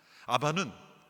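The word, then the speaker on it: אבא: 첫 번째는 아바라는 단어입니다 아바는 아람어로 우리 말론 아빠입니다 발음이 비슷해요 아버지를 친근하게 부르는 단어가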